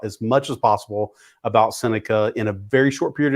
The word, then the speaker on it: Seneca: called Seneca that's a good question so I'm Seneca sometimes people confuse it for Serena